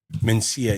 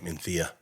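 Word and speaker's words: Mencía: have these, you know, Mensia in Menthia." And I when I went down there to pick them up, he goes, "By the way, this is how it's pronounced." And I went, "How the do you get that from me CIA?" I mean, it's like Barcelona.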